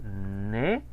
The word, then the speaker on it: né: Entonces, mi fecha de nacimiento, misma frase, il est né. ¿Qué dijimos de la regla del acento en la E? Que sin acento no se pronuncia y con acento sí.